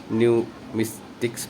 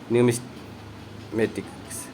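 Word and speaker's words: numismatics: है option number D, न्यूमिस्टिक्स बोलते हैं, न्यूमिस्मेटिक्स, माफ़ करना, इसको क्या बोलते हैं, न्यूमिस्मेटिक्स बोलते हैं, मैंने इसका प्रोनाउंसिएशन गलत कर दिया था, न्यूमिस्मेटिक्स बोलते हैं इसे।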